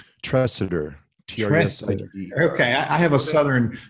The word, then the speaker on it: Tresidder: so how do you say your last name trusted her okay I have a southern southern focus on pronunciation so I want to make sure got